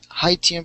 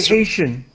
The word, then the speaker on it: Haitian: to the Haitian people hian people yeah sorry say Haitian Haitian Haitian people you gain extraordinary acceptances